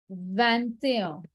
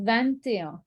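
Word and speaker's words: vingt et un: the chat 21 is van there so 20 was va but 21 is van there you pronounce the t because it's followed by a vowel i've written it in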